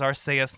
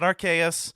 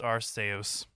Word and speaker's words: Arceus: anime or anywhere else go back to the original japanese the name is aru so suck it it's supposed to be pronounced arseous anywho uh this is